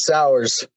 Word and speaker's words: Sauers: I didn't ask you about pronouncing your last name, man. Did I get it right or wrong? You got it, Sauers.